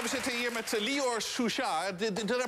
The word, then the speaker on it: Suchard: We zitten hier met Lior Suchard. Did I pronounce that correctly? Suchard.